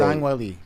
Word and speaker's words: Zhang Weili: Zhang Weili.